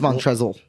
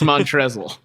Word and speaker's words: Montrezl: entrees harold yeah well when you know it's montrezl and there's an l at the end yeah so well i've been hanging out with snoop dogg too though it's montrezl it's like dumb but